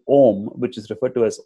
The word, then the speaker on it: Om: form in the syllable ohm which is referred to as ohm Cara which is supposed to be made of three sounds ah Oh N mmm and which is adequately